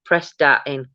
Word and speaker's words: Prestatyn: Pronounced Prestatyn.